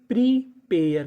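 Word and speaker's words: prepare: आपको एक चीज याद रखनी है। अगर आपको इंग्लिश की किसी भी मीनिंग के आखिरी में इ लिखा मिले तो आपको इ का उच्चारण नहीं करना होता। तो मीनिंग क्या बन गई? प्रीपेयर। क्योंकि यहां पे जो ए है वो ए की मात्रा का काम करेगा।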